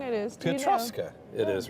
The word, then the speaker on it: Piotrkowska: Piotrowska. It is, right? Piotrowska. I don't know why my voice did that. I'm saying it wrong. It's Piotrowska. Piotrowska. No, Piotrkowska. Piotrowska. Piotrkowska. Piotrkowska? Really? I think so.